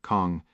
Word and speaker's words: Kang: "I'm Agent Kang," she said, pronouncing it Kong, "and this is Agent Silva."